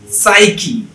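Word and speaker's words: psyche: আবার শব্দের শুরুতে পি আর এস থাকলে পিও বাদ, তাহলে পিও নাই, তাহলে আছে কি এস ওয়াই সি এইচ, সাইকি সাইকি।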